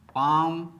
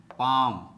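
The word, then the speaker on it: palm: दोस्तों आज मैं आपके लिए डिफिकल्ट वर्ड्स में साइलेंट लेटर एल लेकर आया हूं। तो दोस्तों सबसे पहले साइलेंट लेटर एल से बने शब्दों का प्रोनाउंसिएशन करेंगे और अंत में इसके स्पेलिंग पर बात करेंगे। तो दोस्तों चलिए शुरू करते हैं।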